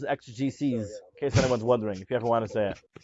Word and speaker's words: exegeses: Oh, by the way, the plural is exegeses, in case anyone's wondering, if you ever want to say it.